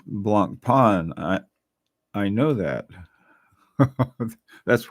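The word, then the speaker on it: Blancpain: the Swiss escapement ah it's pronounced Blanc Pon I I know that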